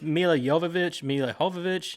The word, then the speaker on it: Mila Jovovich: They pronounce it all. It's Mila Jovovich.